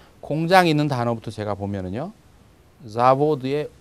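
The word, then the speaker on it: завод: 그래서 공장이 있는 단어부터 제가 보면은요, 자보드의 오에 이제 강세가 있습니다. 그래서 읽을 때 자보드 이렇게 오 있는 부분을 길게 끌면서 분명하게 발음하면 됩니다.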